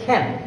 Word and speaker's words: can: তিনটা লেটার নিয়ে একটা শব্দ ক্যান, এটার উচ্চারণ হচ্ছে খ্যান। যেহেতু এটার প্রথমে আছে সি, তো আমরা জানি যে কোনো একটা শব্দের প্রথমে সি থাকলে এটা অ্যাসপিরেটেড হয়, এটা উচ্চারণ হবে খ্যান।